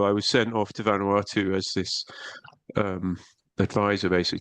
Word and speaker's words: Vanuatu: So, but let me jump forward a little bit because Vanuatu was the name, right? Do I pronounce it Yeah.